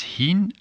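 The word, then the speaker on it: ħin: Hin, don't forget to pronounce the h strong, because, for example, when you say shinu, that means what time is it? And if you say shinu without the h, then it means what is it?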